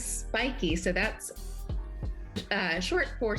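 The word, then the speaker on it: Spyki: s-p-y-k-i how do you how do you pronounce it spikey or that is spiky so that's uh short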